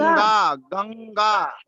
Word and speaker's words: गंगा: गंभीर गा गंगा गंगा। गंगा गंगा हाँ गंगा बस बस, अब सही है। गंग गंगा गंग तो उस गा को नाक से बोलेंगे तो उसका उच्चारण सही हो जाएगा, गंगा।